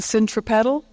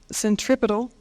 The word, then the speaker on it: centripetal: centripedal and the centrifugal the proper pronunciation of those words if you're scientific is centripetal and centrifugal but for the sake of U hearing I'm going to distinctly pronounce them centripedal and centrifugal so bear with me